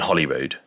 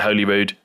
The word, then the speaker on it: Holyrood: This visit is between my trips to Greyfriars Kirkyard and Holyrood. Coming up, you'll see I pronounce it Holyrood, but I know that's wrong. Apologies, it's definitely Holyrood and I get it right in future videos.